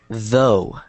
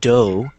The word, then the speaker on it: though: Though. Though. Not dough. But look at the way that my mouth moves. Though. Yeah, so your tongue should be in between your teeth.